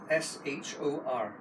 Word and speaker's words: Shor: No, I can't pronounce that. Thomas K. S-H-O-R.